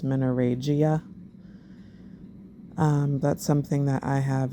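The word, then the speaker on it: menorrhagia: videos of like the I've always mispronounced it as minaraja but it's menoregia that's something that I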